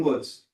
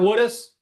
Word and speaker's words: Woods: William Woods. Did not mispronounce this one. It's not Woodus. Tell him it's Woodus.